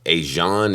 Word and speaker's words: Asiahn: to pronounce her name I think it's asan aan it's aan it's a s i a hn um and the name